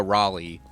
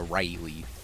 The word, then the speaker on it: Raleigh: It's more of a Raleigh than a Riley.